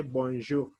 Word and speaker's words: bonjour: pronounce it you say bonjour the last word ar you can pronounce it like kh bonjour you pronounce it from your throat in the afternoon we